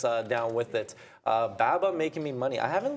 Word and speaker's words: BABA: baba baba baba no there's no long a short a it's baba someone who's in english